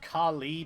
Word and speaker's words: Khali: Go Curly. Just got to love the fact that that is just again I still I know it's supposed to be pronounced Khali because that's what the original intent was, but calling this spirit